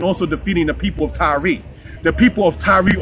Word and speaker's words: Tyre: defeating the people of Tyre. The people of Tyre, or Tyre, pronounced Tyra by some people, was the people that